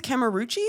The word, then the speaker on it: Cameruci: is great yeah and your last name is kamaruchi yes yeah you said it yeah oh fantastic okay i was worried i was pronouncing that wrong but i love it